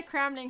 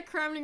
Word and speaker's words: Cramling: what I don't understand the name of my channel is Anna cramling how can you get my name wrong it Lally says that you're watching Anna Kling right now how can